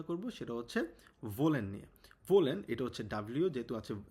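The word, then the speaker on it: wollen: ভোলেন এটা হচ্ছে ডাবলিউ যেহেতু আছে ডবলিউ আছে আমরা জানি ডবলিউ কে এর মত উচ্চারণ করি এক্ষেত্রে ভোলেন মানে হচ্ছে টু ওয়ান্ট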